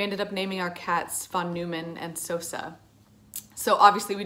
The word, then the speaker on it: von Neumann: later told me that his name should actually be pronounced phone neumann and i named sosa